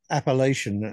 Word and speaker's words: Appalachian: of college of well the way I pronounce is appalation um I know you pronounce it differently in the States but they've been to